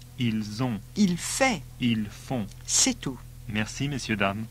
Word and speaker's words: ils font: Notice all the plural ones end in ont and are pronounced on. Il est. Ils sont. Il va. Ils vont. Il a. Ils ont. Il fait. Ils font.